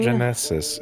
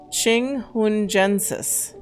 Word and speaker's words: chinghungensis: Well, it's not Genesis. It's Gensis. Gensis. Okay. Chinghungensis.